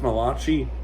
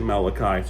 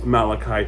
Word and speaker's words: Malachi: I pronounced Malachi. It's actually Malachi. So I I apologize tremendously. I'm I'm sorry. I'm really am sorry that I got the I got the name wrong. It's Malachai.